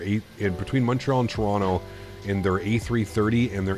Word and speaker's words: Toronto: community and yeah Toronto Tarana people that live in Toronto probably say Tarana it's because that's I